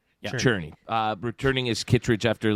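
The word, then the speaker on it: Czerny: for Henry uh Henry Xerni, I think it's pronounced Churnney. Churnney. Yeah. Churnney.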